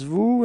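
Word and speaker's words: vous: it's okay and keep in mind that is pronounced like okay new repeat new yeah that's it second person it's Vu and then we get Vu repeat Vu okay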